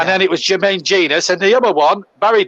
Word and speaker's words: Genius: players I can remember, one was Jermaine Genius. A lot of people, when he broke into that Forest team at 17, used to say Genus. Yeah. And then it was Jermaine Genius.